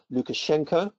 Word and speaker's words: Lukashenko: Belarus president and I think his name is pronounced Alexander Lukashenko he seems to be in denial he refuses